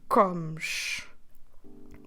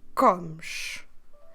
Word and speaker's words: comes: to comes that's right so notice well what we do with the ending we kind of drop it too so we're pronouncing that Shu at the end because of the letter s we're stressing the beginning of the verb let me repeat again